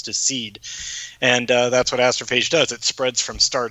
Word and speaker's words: astrophage: Astrophage? Astrophage, perfect.